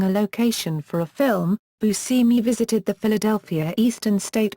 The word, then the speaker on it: Buscemi: Buscemi pronounces his name as "Bu-semmy", but the Italian pronunciation is "Bu-shehmy".